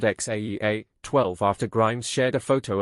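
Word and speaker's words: X Æ A-12: Rogan Experience podcast, saying, "X is pronounced like the letter, but the A is said like Ash."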